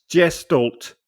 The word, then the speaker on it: Gestalt: Gestalt. No. No. Damn. Well, typically it was always said with like a hard G.